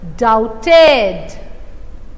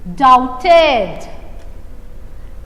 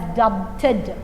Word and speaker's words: doubted: fourth line first word doubted doubted g-o-u e b-t-e-d here b remains as silent you should not pronounce this word as dub dead bur is not uh